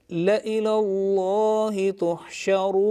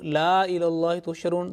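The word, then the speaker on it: لإلى الله تحشرون: So make sure that here, though the alif is written here, and it looks like a la, but it will be pronounced la ilallah. Okay? So you say, la ilallahi tuhsharun. La ilallahi tuhsharun. Okay. If we do la ilallahi tusharun, that will be right or wrong? Wrong, totally wrong.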